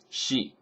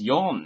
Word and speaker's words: 四: islands of Japan, Shikoku, Shi, one way to pronounce the number 4. And another way to pronounce it is yon, and that's what they use here.